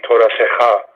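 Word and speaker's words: תורתך: So in this case, that's the syllable you're going to stress. So it would be Toratecha. Normally it would be pronounced Toratecha, but in this case it would be Toratecha, because that's the syllable that you're stressing based on the marking there.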